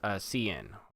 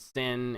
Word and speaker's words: cin: Okay, and that's pronounced cin. Okay, I know some people insist on calling this count and sin and all these other things.